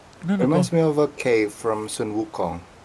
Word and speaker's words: Sun Wukong: No, reminds me of a cave from Sun Wukong.